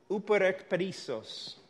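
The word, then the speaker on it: ὑπερεκπερισσοῦ: Let me see if I can give you the correct pronunciation. Uperekperisos.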